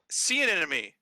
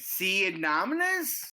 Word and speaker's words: sea anemone: Sea anemone. Okay, how do you say it? It's Sea anemone. sea anemone. That's no. Say it. Sea anomalous?